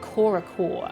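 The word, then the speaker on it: Corps-a-corps: thanks for watching it's french and it's pronounced something like korachor ah thank you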